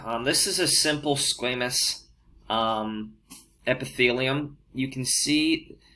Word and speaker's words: squamous: a flat cell now squamous you're going to hear that pronounced all different ways i'm going to pronounce it squamous but you will hear squamous and you will hear